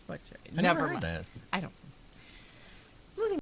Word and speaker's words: Buck Cherry: Buck Naked buck buck cherries I think it's Buck Cherry never heard I don't Moving on but cherries